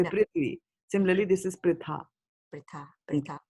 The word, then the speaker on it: Prithvi: Like Prithvi, right? You don't say Prathvi. Do you say Prathvi? You say No. Prithvi.